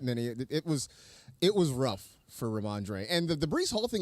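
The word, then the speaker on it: Rhamondre: And he had, is it Ramondre?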